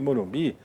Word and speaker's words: morumbi: Morumbi, a sílaba forte é a última.